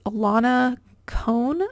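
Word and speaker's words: Ilana Kohn: know about it is Alana con I think is how you pronounce it um for anybody listening and not able to see the screen that's i l a n a and then cone is k o h in this is a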